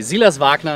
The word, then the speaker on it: Silas Wagner: that right yes okay zealous vac now is alright that sounds good isn't it I go like when I go for the German accent I go really over the top and I think I